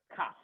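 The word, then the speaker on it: כף: It's called a letter Kaf. Now, that's Kaf. Please pronounce 5 times.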